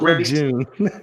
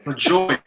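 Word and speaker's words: LaJoie: This coming season, not LeJeune. LeJoy.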